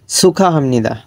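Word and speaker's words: 축하합니다: তারপর একটা 4 নম্বরটা সুখা হামনিদা। সুখা, এই গিয়ক বা সিমির পর হ থাকলে গিয়কটা হয়ের জায়গায় ক্ষয়ের মতো উচ্চারণ হবে।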